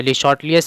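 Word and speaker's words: Le Chatelier: तो ली चैटलियर principal या ली शॉर्टलियस principal, इसकी करेक्ट प्रोनाउंसिएशन होती है, वो हमें अप्लाई करना है।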